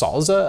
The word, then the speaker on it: SLSA: generate slsa Provence um it's pronounced salza apparently I don't remember what